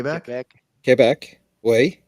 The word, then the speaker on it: Quebec: with the letter Q Quebec yesc Quebec Quebec Quebec Quebec Quebec if I if I was there I would say k oh yeah that's right they say k KC way great fishing in Quebec